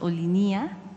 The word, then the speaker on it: Olinia: equipo revisará la pronunciación ellos afirman que la pronunciación es olinia o se Ajá olinia